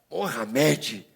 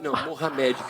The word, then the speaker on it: Mouhamed: O meu não, o meu já é Mohamed.